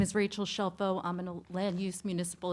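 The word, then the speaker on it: Scelfo: So, my last name is Shelfo and it's spelled S C E L FO and my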